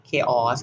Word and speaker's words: chaos: ไม่ อาย ว่า จะ อ๊อด อ่าน ว่า เคหะ chaos ค่ะ เสีย ตัว โอเค ค่ะ ตัว นี้ ค่ะ